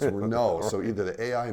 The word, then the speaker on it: Renault: and any everyone knows it's not renal it's Renault so either the AI